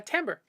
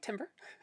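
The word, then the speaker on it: timbre: term when I played trumpet yeah color uh tamber um t m b r e um looks like Timber uh pronounced tber um the I suppose on other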